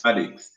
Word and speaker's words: Appomattox: How do you pronounce that place? Appomattox. Appomattox. Appomattox. Yes, Appomattox. Appomattox.